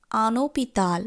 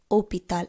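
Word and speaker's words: un hôpital: যেমন যদি আমরা বলি একটি হসপিটাল সেই ক্ষেত্রে আমরা বলবো আনোপিতাল, বলবো না কিন্তু ওপিতাল। অর্থাৎ ইনডিফিনিট আর্টিকেলসটি এবং সেই শব্দটির মাঝে কোনো শূন্যতা রাখবো না বা স্পেস রাখবো না, একত্রে শব্দটির উচ্চারণ করব।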